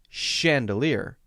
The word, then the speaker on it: chandelier: For example, the word chandelier is spelled CH. But notice when I say the word chandelier that it has an SH sound.